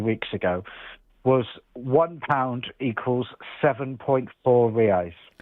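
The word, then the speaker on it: reais: Rii. Okay. So it's pronounced rii.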